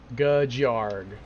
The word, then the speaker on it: Gajarg: Gajarg. That is how it is pronounced.